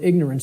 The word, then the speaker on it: ignorance: us, of the word ignorance, because of the way it's pronounced. I tell people, start pronouncing it ignorance. Ignorance. Then people will hear the word ignore in it, and the connotation becomes clear.